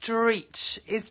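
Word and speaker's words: dreich: Pronounced Dreech.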